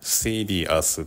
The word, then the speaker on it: serious: アメリカ英語では、「r」の前にシュワーを付けないので、「seer-ee-us」と「peer-ee-ud」のように発音できます。